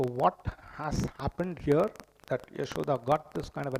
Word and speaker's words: Yashoda: This word Yashoda, it consists of two syllables. I mean, those of you who are familiar with Hindi will be able to get this. Yash and Da.